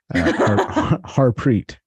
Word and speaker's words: Harpreet: now I'm like yeah my name's harpreet it's not that hard it's two syllables like Nathaniel and Jonathan have more syllables than my name harpreet like two syllables you could say it yeah as you should